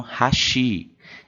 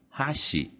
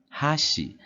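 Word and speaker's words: 箸: é mais parecida com hashi hashi a gente alteia a primeira sílaba depois a gente tem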